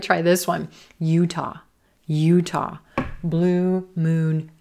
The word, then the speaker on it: Utah: Utah. Utah, blue moon, Utah. Again, no schwa in this short state name, but that second syllable is quicker. Utah.